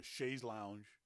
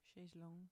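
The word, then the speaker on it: chaise longue: That kind of adult vacation where you just go and lie on a beach in a chaise lounge. Chaise lounge or chaise lounge? Chaise long.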